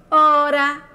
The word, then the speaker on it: hora: estudando h no início o h quando inicia alguma palavrinha ou nome não é pronunciado por isso dizemos que a letrinha H é uma letrinha muda dizemos o h é mudo porque hora quais são Zinho que